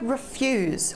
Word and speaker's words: refuse: The word refuse, when the emphasis is on the second syllable, fuse.